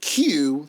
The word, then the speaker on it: queue: Did not know that was Q, like you're in a line.